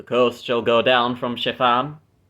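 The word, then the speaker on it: Shepham: And the coast shall go down from Chiffam because I mispronounced it as shephim. It's actually Sheffam.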